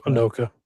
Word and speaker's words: Anoka: Uh, as previous reported, Anoka, is that pronounced? Is that Anoka?